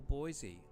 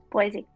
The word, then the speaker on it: Boise: Generally speaking, which of these US cities is pronounced with a Z sound by outsiders and an S sound by locals?